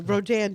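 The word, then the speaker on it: Rodin: Well, Rodan did that piece back in the 1880s, a French artist, and uh I took my mom to a Rodan show.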